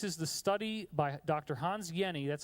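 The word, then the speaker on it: Hans Jenny: the study by Dr Hans Yenni that's how you pronounce that name even though it looks like Jenny the J is silent it's like a why so Dr Hans Yenni studied a drop of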